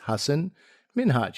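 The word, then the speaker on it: Hasan Minhaj: back and said listen this is how you pronounce my name it's hassan minhaj you know say it with me and his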